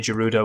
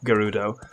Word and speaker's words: Gerudo: it's peer pressure is whether I say judo or Gerudo as far as I'm aware there's no official pronunciation I don't think the